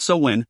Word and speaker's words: Samhain: It's pronounced Samhain, Robin interjected. I gave her a harsh look that I hoped said, then why don't you read it? I bit my lip and looked back down at the paper. Samhain, really? I shrugged. If Robin said so.